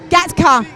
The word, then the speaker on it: Gatka: Herman, I don't want to pronounce it wrong. Gatka. It's a Sikh martial art. Gatka. Gatka.